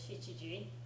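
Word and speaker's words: 七時: Remember the pronunciation for this one is Shichiji, right?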